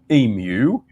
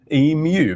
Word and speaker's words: emu: known as the humble emu in australia but he pronounced it as emu taking the more phonetical sound of because it is spelled e m u right and one might